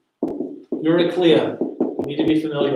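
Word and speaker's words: Eurycleia: on page 104 characters introduced all right yes you're a cleo that's how you say her name yuri clea you need to be familiar with her her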